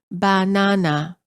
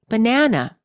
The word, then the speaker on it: banana: For example, in many languages, the word banana is pronounced as banana. All three syllables are stressed equally. In English, we pronounce the word as banana. The second syllable is stressed.